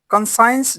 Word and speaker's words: conscience: Conscience जिसमें सी silent है जिसका मतलब है जमीर.